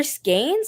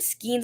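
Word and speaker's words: skein: big too are there skaines I've heard skin and I've heard skaines it depends on where you learned it um like it's very Regional how people pronounce it okay okay so you're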